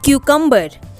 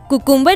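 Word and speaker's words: cucumber: खीरा को इंग्लिश में कहते हैं क्यूकम्बर, क्यूकम्बर, कुकुम्बर नहीं कहते हैं, देखिए वो रॉन्ग प्रोनाउंसिएशन हो जाएगा।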